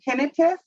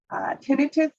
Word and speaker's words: tinnitus: So out of the 48 to 50 million Americans that have a hearing loss, 20% of us have tinnitus. Tinnitus, sometimes pronounced tinnitus, both acceptable.